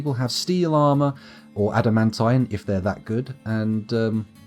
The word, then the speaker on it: adamantine: I keep mispronouncing it adamantine. Remember, it's adamantine. Adamantine.